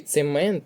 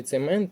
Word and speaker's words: цемент: третій склад наголос правильно і цемент наголос на другий склад у слові цемент наголос на другий а у слові центнер наголос на перший склад іде запитання ти правильно